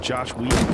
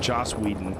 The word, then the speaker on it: Joss Whedon: This poor fucking Josh Whedon guy, or Joss Whedon.